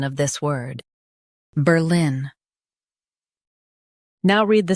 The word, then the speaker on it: Berlin: Ber lin Berlin Emphasize ber and keep lin strong. Ber lin Berlin Practice repeatedly and you'll soon be able to say this word perfectly.